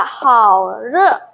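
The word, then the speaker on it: 好热: Terus 37 ada haure. Re. Jangan dibaca re, re enggak enggak gitu. Di bahasa Mandarin R nya itu jadi kayak setengah kayak orang cadel.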